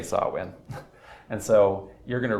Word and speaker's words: Samhain: the Gaelic festival of, I am told that this is pronounced Samhain, I think, so I'm going to say Samhain.